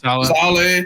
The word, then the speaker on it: Saleh: How do you pronounce his name? Robert Saleh. Saleh.